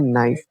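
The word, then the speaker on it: knife: इसे के साइलेंट है। तो इसे पढ़ते हैं ना। यहां पर के साइलेंट है। यहां पर बढ़ते हैं नाइफ।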